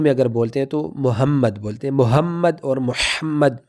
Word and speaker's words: محمد: وہ تلفظ نہیں رہتی۔ تلفظ عربی کی یہ ہے کہ ہا کو اپنے گلے میں تھوڑا سا رگڑ کر کے پڑھنا ہے۔ تو پڑھتے وقت